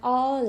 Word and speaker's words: hour: Even if the starting letter is a consonant, here the h is silent and therefore it is pronounced like a vowel.